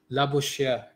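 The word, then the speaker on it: Labouchere: to pronounce calm okay let's see how it sounds like right la bouche here yeah la bouche Shia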